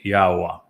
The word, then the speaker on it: Yahowah: And the verb haya explains how to pronounce the he and the yod.